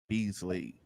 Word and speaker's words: Beasley: yeah absolutely so um so who is beasley so i would say i'm i'm an entrepreneur